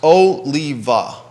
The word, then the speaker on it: Oliva: it oliva oliva oliva i'm looking at the website it's pronounced oh lee va oliva oliva this